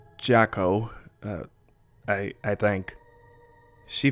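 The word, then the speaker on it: Jaco: the second time sorry it's j a c o pronounce jacko uh i i think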